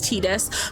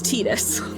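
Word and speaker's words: Tidus: So Tetus in Final Fantasy 10, the correct pronunciation is Tetus.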